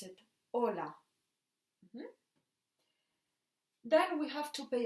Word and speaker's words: hola: pretty pretty special because it's a letter that you will see written very often but we don't pronounce it for example hola ha ha Archie we don't pronounce it hola then we have to